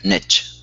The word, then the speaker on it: niche: this issue which is in American English we say niche in international English it's the way the word should be pronounced nich so you've got two different pronunciations but I want to